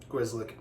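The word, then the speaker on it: Grzelcyk: Grizzlick.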